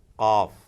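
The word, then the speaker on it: قاف: Qaf, again very special, unique sound, qaf.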